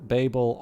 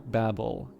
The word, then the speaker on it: Babel: In British English, Babel is pronounced B-A-Y-B-U-H-L. In American English, they say either Babel or Babel. So apparently, it is actually a British versus American.